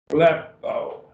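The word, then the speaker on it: βλέπω: Blepo, two syllables. You got two vowels, epsilon and omega. Blepo.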